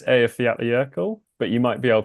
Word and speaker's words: Eyjafjallajökull: So it's the Eyjafjallajökull or something similar to that.